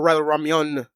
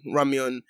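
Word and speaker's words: ramyeon: a walmart they do sell um ramen not ramen about getting or ramyan if we're talking about korean ramen ramyun but they do have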